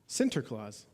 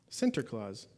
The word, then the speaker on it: Sinterklaas: to this day but Santa Claus is really just an America Americanized pronunciation of a much word and I'm going to butcher it for those of you that are Dutch I apologize Sinterklaas center claws which was the celebration